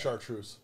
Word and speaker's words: Chartreuse: How do you pronounce it? Chartreuse.